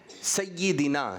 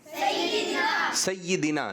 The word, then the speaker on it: سیدنا: پاک پڑھیں گے تو صحیح تلفظ ہے سیدنا۔ کیا ہے؟ سیدنا۔ اسی طرح آپ کون ہیں؟